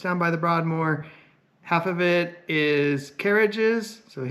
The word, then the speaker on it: Broadmoor: If you've ever been to the Broadmoor, you have to say it like that.